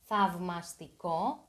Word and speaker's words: θαυμαστικό: Beware of the diphthong av. Alpha and ypsilon are pronounced av. Av, θαυμαστικό.